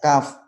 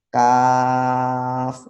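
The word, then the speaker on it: كاف: yang dihafal ya, kayak kaf. Kaf kan ada benderanya ya, tapi Ya. baca kaf, panjangnya kan kaf. Nah, seperti itu. Bukan k bacanya, tapi kaf. Kenapa dibaca panjang? Karena ada bendera di atasnya itu.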